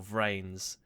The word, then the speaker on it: VRAINS: The description it reads, it's pronounced like trains, but with a V. So, VRAINS.